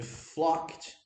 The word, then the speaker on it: flocked: flocked, fala assim, ó, lembra de não pronunciar o E? Flocked to the football match. Repara aqui, ó, a pronúncia de flocked é assim, ó. Flocked, com um T no final.